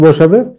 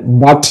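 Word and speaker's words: But: ওকে, বাট কিন্তু the tortoise, tortoise, আচ্ছা এখানে দেখো এই যে আমরা বলি না বাট দ্য টর্টয়েস, কিন্তু যারা নেটিভ স্পিকার তারা এটা কিভাবে উচ্চারণ করে জানো, বা দ্য টর্টয়েস, মানে বাট না, নেটিভদের উচ্চারণে এই বাটটাকে তারা কি বলে বা, ওকে, বা দ্য টর্টয়েস, বা দ্য টর্টয়েস।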